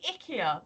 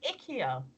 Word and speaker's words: IKEA: you I'm building more Ikea furniture or is it ickier the adverts now say Ikea and that sounds wrong because it sounds like you know oh icky icky yeah we've got to